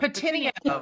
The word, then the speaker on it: Pettineo: Pettineo. Close enough. Pettineo. Yeah. Pettineo. I tried to put an Italian slant on it. You have to put it like it's a Jersey Italian, spin on it.